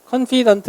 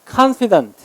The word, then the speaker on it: confident: confident 이렇게 읽으면 안 되고 강세는 이름절에 있어요. 그래서 confident.